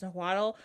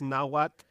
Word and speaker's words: Nahuatl: And I'm so sorry if I mispronounced that, but that's the way I think it's pronounced, Nahuatl, which is like...